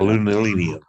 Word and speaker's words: aluminium: Aluminium. You'll figure it out. Aluminum, aluminium.